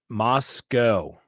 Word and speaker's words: Moscow: It's pronounced Moscow. All right, Jessica Miller. There it is, the official Moscow, Idaho. The W is silent and is pronounced with an E, not a W.